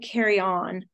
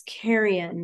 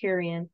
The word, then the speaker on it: carrion: Instead of carry on, it's carrion. That's how you would pronounce that word, carrion.